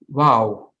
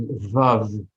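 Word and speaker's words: וָו: Now, most people now in modern Hebrew, that letter is pronounced as Vav. But everybody, the language scholars know it's very clear that the letter was originally pronounced as Wow, and there's still communities, huge communities that pronounce it that way.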